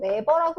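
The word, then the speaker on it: weber: 어떤 면을 지나는 자기력선속, 자기선속을 이제 우리가 이제 자기선속이라고 하고, 단위는 WB라고 쓰고 웨버라고 읽는다.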